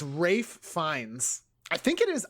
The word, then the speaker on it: Ralph: That is Ralph. No, it's Rafe.